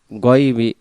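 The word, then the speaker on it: غيب: আলিমুল গয়বি, গাইবি উচ্চারণ হবে না।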